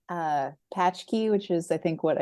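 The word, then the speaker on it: pączki: Una, happy Paczki Day.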